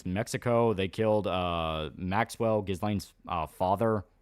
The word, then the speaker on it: Ghislaine: Apparently Ghislaine's pronounced like Glenn. Bro, sentence her to death on that alone. Or Ghislaine, yeah.